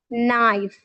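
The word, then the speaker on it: knife: एक रूल मौजूद है, वेन एवर के comes before N, सो वी डू not pronounce के। जब भी के एन से पहले आता है हम के को साइलेंट कर देते हैं, एज नाइफ, नो। ठीक है।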